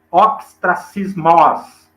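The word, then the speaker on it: ὀστρακισμός: dela deriva-se esse eh pronunciado oxtra sismos Então é assim que se pronuncia no grego que significa punição política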